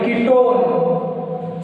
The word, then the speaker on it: ketone: समझ में आ रहा, उसको जब पढ़ते हैं ONE को जब हम पढ़ेंगे तो उसको लाइक ऐसा प्रोनाउंस करेंगे ओन, ठीक है, ONE1 को ओन प्रोनाउंस करेंगे कीटोन।